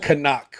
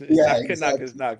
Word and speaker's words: knock: Like kanak or knock is knock.